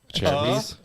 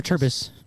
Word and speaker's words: Cherbis: Say it right. Cherbis. Chair. Like you're sitting in a chair. A chair. You're sitting in a chair. Okay, a Cherbis. Yeah. A Cherbis. A turbis.